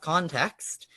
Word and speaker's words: ConTeXt: now we also have context which of course has the x pronounced like an x as as i believe